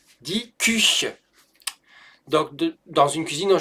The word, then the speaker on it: Küche: Die Küche. Die Küche. Et pas die Kuche. Die Küche. Je rappelle que le U avec le umlaut, ça se prononce U et pas OU.